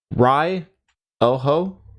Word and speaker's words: Ryoho: It's pronounced Ryoho. By the way, Japanese very very rigid in how you pronounce syllables.